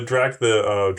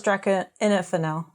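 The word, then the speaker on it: Drachinifel: The Drakenifel. I thought it was Drakenifel. Drakenifel.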